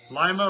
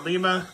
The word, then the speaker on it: Lima: locomotive works and uh Lio or Lima better where you are in the country and how it's said but they're in Ohio